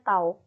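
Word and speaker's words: τ: ialah tahu ini ya tahu atau t huruf t tapi ada cepatnya gini nah dibacanya tahu gitu ya Nah pada torsi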